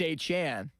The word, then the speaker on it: Achane: Yeah, it looks like A-Chain, but it's Achane.